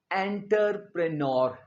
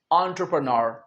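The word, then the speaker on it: entrepreneur: बहुत से स्टूडेंट्स इसे बोलते हैं एंटरप्रेन्योर, ये गलत है। इसका प्रोनाउंसिएशन हम एंटर नहीं कहेंगे, ये है एंटरप्रेन्योर, एंटरप्रेन्योर। एंटर नहीं, एंटरप्रेन्योर, जिसका मतलब होता है उद्यमी।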